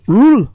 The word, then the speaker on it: Roel: Rule. Yes. Oh yes. Yes. Yes. Pronounced it right. Rule WT Cruz founder of you remember Voices Unleashed.